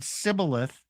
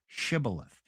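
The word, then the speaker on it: shibboleth: Some couldn't say the shh sound. They could only say the s sound. So some said cibilith, some said shibilith.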